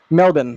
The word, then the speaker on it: Melbourne: great work Shane from Melbourne austral no sorry melbour I'm pretty sure it's pronounced melbour Australia I don't want to